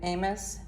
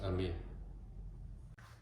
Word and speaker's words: Amis: Now, a lot of people say Amos, but the owner said the name was actually But it's it's French. Yeah, they it's correctly pronounced ami. So it's not amus. It's not amus. It's ami.